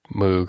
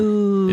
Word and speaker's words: Moog: She got me this semi-kit, although it's mostly assembled from Moog or however you pronounce it, M-O-O-G. If it's got two O's, it's going to be oo. Yeah, except it's not. Moog.